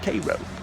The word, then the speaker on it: Cairo: It's a very small, almost ghost town, but back in the day it was called Cairo.